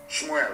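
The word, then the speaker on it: שמואל: Let me tell you what Samuel said. Shmuel, of course, correct pronunciation.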